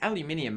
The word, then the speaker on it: aluminium: If you're down here in Australia, and to be honest, you Americans have got it wrong. It's aluminium, mate. Learn how to pronunciate your fucking words.